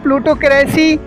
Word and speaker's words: plutocracy: इसको कहते हैं प्लूटोक्रेसी, इसको प्रोनाउंसिएशन करेंगे प्लूटोक्रेसी, PLUTOCRACY, प्लूटोक्रेसी, प्लूटोक्रेसी इसका प्रोनाउंसिएशन करेंगे हम लोग।